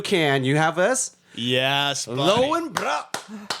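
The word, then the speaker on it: Löwenbräu: Lowenbrau. I don't know actually how to say it. Lowenbrau? Lowenbrau. Brow? Good. Brow. Lowenbrau.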